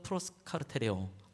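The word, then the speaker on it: προσκαρτερέω: 한번 저를 따라서 한번 또 발음해 보죠. 프로스카르테레오. 프로스가 전치사가 되어지고요. 이제 카르테레오가 이제 구체적인 단어가 되겠죠. 한 번 더 프로스카르테레오.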